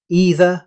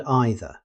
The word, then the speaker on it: either: Again, English gives us two correct options, either and either. A simple memory trick is the famous phrase, you say either, I say either. Choose one and use it consistently.